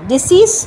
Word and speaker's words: decease: আর প্রথমটা হচ্ছে DECEASE, ডিসিজ হচ্ছে, দুটোর প্রোনাউন্সিয়েশন কিন্তু আলাদা। প্রথম ওয়ার্ডটা হচ্ছে ডিসিজ মানে death, someone who is dead. R ডিজিজ, একটাতে কিন্তু জ সাউন্ড, একটাতে স সাউন্ড।